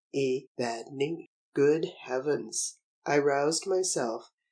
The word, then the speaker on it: Evadne: word in my heart, a word of just 3 syllables, the accent being on the penultimate Evadne. Evadne.